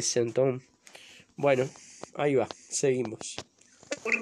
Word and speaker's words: sinthome: Ahí lo pronuncian como sintón, no sé por qué. Lo digo sistemáticamente, excepto alguien que, porque Benjamin Dom habla francés y sin embargo dice sintom. Incluso lo he escuchado por Isidoro Beck. Creo que es la única que lo pronuncia bien y ella habla tanto francés casi como castellano, es Silvia Amigo, y es creo que la única que dice sentón.